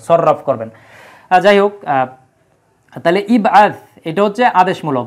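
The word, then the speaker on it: ابعث: আছে এর পূর্বে, হ্যাঁ, যদি ইবআস শব্দটা একদম শুরুতে থাকতো বাক্যের, তখন এই হামজাতুল ওয়াসলের উচ্চারণ হতো। যেহেতু এর পূর্বে ওয়াও আছে, এটা সব সেন্টেন্সের ভিতরে আছে, এর পূর্বে ওয়াও আছে উচ্চারণ করার জন্য, এই জন্য কিন্তু এই জায়গায় হামজাতুল ওয়াসলের আর উচ্চারণ হয় না।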